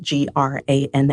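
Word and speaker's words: Granne: will one day learn the joy of the silent e g r a n n e Gran instead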